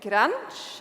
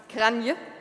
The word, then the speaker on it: Kranj: We move on from Sweden to the central parts of Europe, to Granj. I hope I'm pronouncing this correctly. No. Kranje. 2 options, got the wrong one.